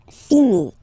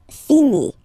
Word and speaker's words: finis: Remember, final S is not pronounced. Je finis. Okay? Tu finis. So es as well, like we had for je. So same way to pronounce it as well. You don't pronounce the final S.